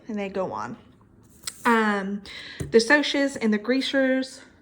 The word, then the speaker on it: Socs: The Socs and the Greasers. Socs stands for socials. That's why it's pronounced that way.